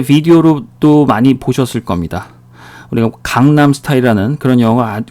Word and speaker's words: 강남: 갱남 스타일이라고 발음을 했습니다. 우리는 강남 스타일이라고 얘기를 하는데 처음 본 외국인들은 누구나 할 거 없이 약속했다는 듯이 갱남 스타일이라고 처음에 읽었어요.